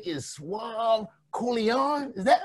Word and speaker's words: Suave Colione: But we found out just now from Jerry Woods that your name is Suave Colione.